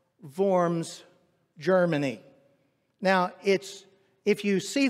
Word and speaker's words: Worms: And so it looks a little weird to speak of the diet of Worms, or the Diet of Worms, as it's pronounced in Germany, in German.